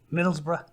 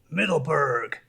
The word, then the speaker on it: Middlesbrough: me where I was from, and I said, Middlesbrough, and she went, Middleburg.